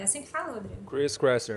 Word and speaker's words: Chris Kresser: Chris Kresser, é esse mesmo. Eu gostei mais da sua pronúncia, como é que é? Chris Kresser.